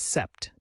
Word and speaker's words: sept: 7 in French is sept, and you say it like set.